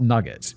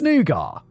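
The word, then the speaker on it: nougat: Nugar is one where it's like it is nugar. It's not nugget. It's nugar, but it's got a weird spelling. N O U G- A- T based confectionary and chocolate-covered pecans.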